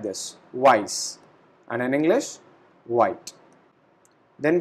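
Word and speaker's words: weiß: The pronunciation of this character is double s. So we pronounce it like this, weiss, and in English, white.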